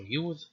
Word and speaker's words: Yod: Okay, so this letter, you can call it Yod or Yud, and the example is Yada. Next is the Kaf, with two pronunciations, either a stop, K, or some kind of post-vocalic fricative, Ch or Cha.